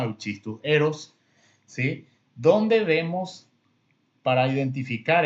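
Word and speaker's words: Euschistus heros: No vamos a entrar en detalles si vamos a pronunciar la CH como K o va a ser la CH como el español. Vamos a leerlo como está en nuestro idioma, Euchistus eros, ¿sí?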